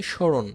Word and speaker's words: স্মরণ: দেখো 1 নম্বর নিয়মে হচ্ছে মফলা যদি শব্দের শুরুতে থাকে যুক্ত বর্ণে তবে মফলার কোনো উচ্চারণ হবে না, তবে একটা নাসিক্য বাপ চলে আসবে। মফলা থাকলেই মনে করবা যে উপরে একটা চন্দ্রবিন্দু আছে। হ্যাঁ, এই যে দেখো স্মরণ, শো শো, আমরা স্মরণ বলছি না, আমরা বলছি স্মরণ, একটু না খেয়ে চাপ দিচ্ছি।